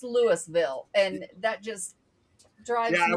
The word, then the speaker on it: Lewisville: say Louisville because it's it's the same general pronunciation as the other Lewis.